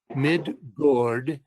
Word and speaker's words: Midgård: Midgård, Muspels Heim, etc.